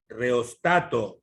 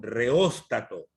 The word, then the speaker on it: reóstato: El reostato o reóstato. Mire que hay una tilde, ¿no? El reostato o reóstato. Se pronuncia de esas dos formas, ¿no?